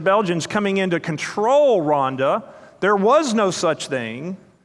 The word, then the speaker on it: Rwanda: I've had the privilege of serving with the leadership of a country Americans call Rwanda. The proper pronunciation is Rhonda.